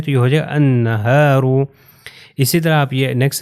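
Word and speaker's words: النهار: تلفظ نہیں ہوگا، یہ والا لام جو ہے تلفظ نہیں ہوگا، میں نہیں کہوں گا النہار، نہیں، یہ الف جو ہے اس کے اوپر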